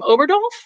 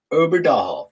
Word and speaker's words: Oberdalhoff: say your last name oberdolf uber doll just like it's spelled oh that